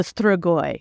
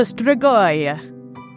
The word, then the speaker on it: Strigoi: And that is the Strigoi. The what? The Strigoi. The Strigoi? The Strigoi. So it's spelled Strigoi.